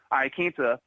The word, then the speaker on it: Iaquinta: Because Iaquinta over here, excuse me, I was mispronouncing his name, Iaquinta, he is a guy who has had some